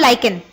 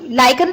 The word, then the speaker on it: lichen: लाइकन H is silent. It is called lichen. हाँ, लाइकन plant से बनाया गया है.